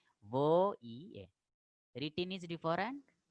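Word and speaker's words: voyelles: Double L, here it is not pronounced, and ES ending not pronounced. So le voye.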